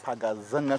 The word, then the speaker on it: Paga Zenga: So you were saying that the pronunciation of this place is Paga Zenga Crocodile Pond.